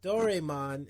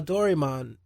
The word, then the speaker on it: Doraemon: When there's an A and an E like that in Japanese, it usually makes an I sound for some reason.